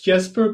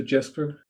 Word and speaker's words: Jesper: It's Jesper, but I also respond to Jesper.